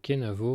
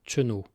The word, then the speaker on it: kenavo: Pour se dire au revoir, on utilise le mot kenavo, mais en pourleth on le prononce généralement cheno.